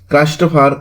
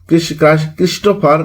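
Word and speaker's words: Christopher: নাটক হচ্ছে Spanish tragedy ক্রাইস্টোফার মারলো উচ্চারণটা হচ্ছে ক্রিস্টোফার মারলো ফাদার অফ ইংলিশ ট্রাজেডি বলা হয় মনে রাখার টেকনিক ডক্টর ফ্রস্টাস এবং এডোয়ার্ড হিরো ছিলেন।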